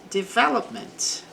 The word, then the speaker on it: development: Development, então, desenvolvimento. The development, também, sílaba forte aqui no ver.